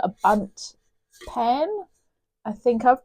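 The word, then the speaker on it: Bundt: is actually called a bunt pan. I think I've pronounced that right. It's bund b u n d with a t on the end. So, bunt bund or bunt pan.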